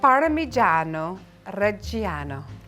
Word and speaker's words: Parmigiano Reggiano: Parmigiano Reggiano.